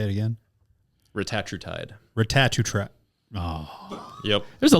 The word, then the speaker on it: retatrutide: Retatrutide.